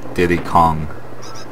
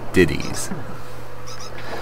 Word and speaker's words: Diddy's: it's his it's not Diddy Kong like most people people would say is there's a there's an apostrophe s in Diddy so it's diddies anyways let's get off